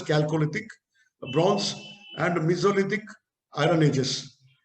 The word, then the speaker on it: Chalcolithic: Chalcolithic, it is called Chalcolithic, CHA, but pronounced as Chalcolithic, Bronze, and Mesolithic, Iron Ages.